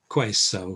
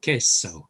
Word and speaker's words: queso: is a kiosk um there's another spanish k sound that's q u uh q u is always sounded as okay and it's one of the most difficult things for new spanish speakers to remember in in my experience they will always say things like uh queso for cheese it's queso okay so q u equals k l is la pronounced